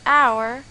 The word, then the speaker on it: hour: This is because h in the words hour and heiress is a silent letter. We pronounce it as hour and heiress instead.